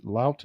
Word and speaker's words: Lout: Lout is how you say his last name.